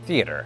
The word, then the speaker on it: theater: it is in Britain, it's also said in one of two ways. Most thespians that I interacted with would say theater, but ever so now and again, usually when you get somebody with a southern twang, it comes out as the which I was about